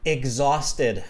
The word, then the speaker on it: exhausted: So one more time, exhausted. Just copy me. Exhausted. Exhausted. Egg, like an egg, like the food egg.